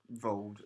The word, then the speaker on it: Grindelwald: Johnny Depp has been cast as young Grindelwald, or possibly Grindelwald, because I think that's how Rowling pronounces it. Okay. Grindelwald. Anyway, Johnny Depp's been cast as young... We're going to say Grindelwald now. Vold. Yes. It sounds better.